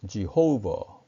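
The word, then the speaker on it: Jehovah: 여호와 라고 부르는 어 이 단어는 어여 영어 발음으로는 지호 오버 입니다 주의 허어 어 영어에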